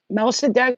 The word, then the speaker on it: Melchizedek: Melchizedek, pronounced Melchizedek, whose name means king of righteousness, is the first high priest mentioned in the Bible.